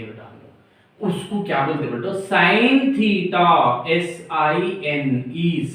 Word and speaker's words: sine: बेटा, साइन theta, SINE, साइन theta, क्योंकि theta के मुताबिक लिख रहे। इसको शॉर्टकट में या SINE नहीं लिखते बेटा, SIN थीटा, सिन नहीं, SIN सिन होता, सिन थीटा नहीं बोलना, साइन थीटा।